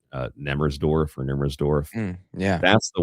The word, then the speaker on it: Nemmersdorf: The Mm, one that you're thinking of is, if I pronounce it correctly, I think it's pronounced Nemmersdorf or Nemmersdorf.